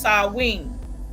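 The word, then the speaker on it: Samhain: Sam Hayne, pronounced Sawing and was on November the 1st.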